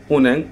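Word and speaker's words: 은행: পার্থক্য আছে এখন দেখেন যদি নিয়ন বাচ্চিমের পরে হিউত আসে তাহলে নিয়নটি হিউতের জায়গায় চলে যায় এবং হিউতের উচ্চারণটি হয় না উজ্জ্ব থাকে এটা বলা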